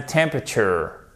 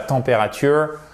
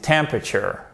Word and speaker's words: temperature: Et temperature, vous avez l'accent tonique sur la première syllabe. C'est pas température, non, c'est temperature.